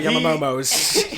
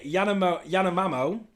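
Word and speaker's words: Yanomamö: To all my Yamamomos, you know what I'm saying, bruv. He pronounced our name wrong again. So it's the Yanomamo and the Shamatri tribe.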